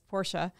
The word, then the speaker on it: Porsche: Crystal wrongly corrected him saying Porsche and not pronouncing it right but that's for another Clark stings haha yes Porsha Clark was correct the car was a Ferrari